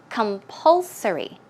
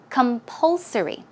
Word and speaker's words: compulsory: or certain rules let's check out how to pronounce it okay the stress goes right there so it's compulsory compulsory one more time compulsory good job and the